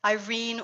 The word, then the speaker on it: Irene: give me a moment, Irene or Greenie. She was called Greenie. And what else do they have there, Tom? It's 3 syllables, and we use it in Nini, not Rini.